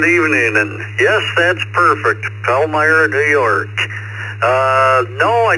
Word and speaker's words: Palmyra: And am I pronouncing this right? Right. Palmyra, New York. Uh, good evening. And yes, that's perfect. Palmyra, New York.